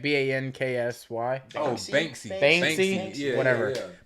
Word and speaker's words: Banksy: however you say his name, Bansky. It's like Banksy.